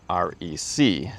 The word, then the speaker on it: REC: And they said it is pronounced REC.